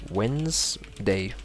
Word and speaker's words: Wednesday: day of the week I hear a lot of people mistake this one so it would be Wednesday simply like this you can say it's Wednesday so today is Wednesday okay and next Super